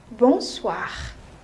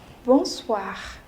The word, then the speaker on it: bonsoir: pronunciation of the word o plus n is on it's a nasal sound oh plus I is